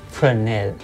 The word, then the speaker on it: Fresnel: Yes, it's pronounced Fresnel.